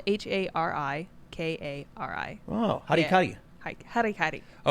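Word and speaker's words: hara-kiri: Yeah, it's spelled HARIKARI.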